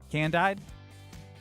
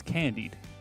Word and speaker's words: candied: Can-dyed? No, I'm excited. I'm saying it sounds good. Well, it's spelled can-dyed. I think it's can-dried. I think it's candied.